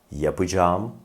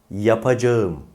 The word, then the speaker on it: yapacağım: kelime şimdi tekrarlayalım birlikte doğru telaffuz olan şu yapacağım tekrar yapacağım Yanlış olan telaffuzsa yapacağım şimdi bu kelimeyi bir